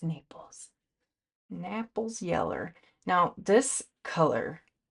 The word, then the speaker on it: Naples: Napple yellow. Just kidding. pronounced Naples.